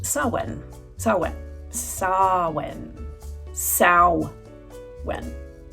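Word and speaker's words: Samhain: quick and mention that, uh, it's not actually pronounced Sam Hayne. Um, everybody knows that. I know that now. It's pronounced sawen.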